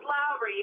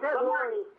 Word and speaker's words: Lori: It's pronounced Lowry, but yes, aye. What did I say? I'm sorry. Lowry.